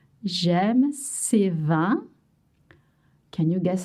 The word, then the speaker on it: vins: You don't pronounce the S. J'aime ces vins.